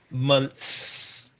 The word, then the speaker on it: month: So when you say months, you have to stick your tongue Month, out.